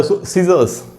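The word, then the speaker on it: scissors: दूसरा वर्ड है सीजर्स, कैंची, जब काटते हैं, यहाँ पर भी S और C एक साथ है तो C साइलेंट है, C का उच्चारण नहीं हो रहा, सिर्फ S का उच्चारण हो रहा है।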